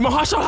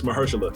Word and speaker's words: Mahershala: You doing it for the Martin Luthers, the Malcolms, the Mahershala Ali's, the Gandhis. Oh, you said that name wrong. It's Mahershala. No, the Mahershala Ali's.